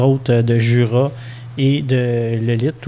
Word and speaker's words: Lelit: de Jura et de l'Elite, ou Leli, comment on le prononce? L'Elite. L'Elite? Oui, OK, ça parfait. vient de l'Elettroapparato Italiano. Ah, OK, parfait.